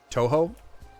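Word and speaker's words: Touhou: Draculaflow or even like Toho characters or Tuhou, I don't know how it's pronounced. I want to do one that's uh Undertale characters as described by Draculaflow. You have a question, Lonuts? Absolutely. I am happy to answer them. Toho. Okay, Toho.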